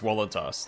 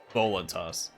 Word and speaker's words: voluntas: It'd be pronounced voluntas, not voluntas.